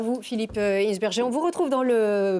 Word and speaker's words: Hinsberger: Non, normalement, c'est Hinsberger. C'est quand même un nom à consonance allemande. Donc voilà, on prononce toutes les lettres un petit peu comme on le fait, mais bon...